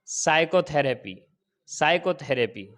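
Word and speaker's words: psychotherapy: है साइलेंट होता है जैसे साइको थेरेपी तो यहां पर एस से पहले पी आया है क्या होगा साइलेंट हो जाएगा इसी तरीके से जैसे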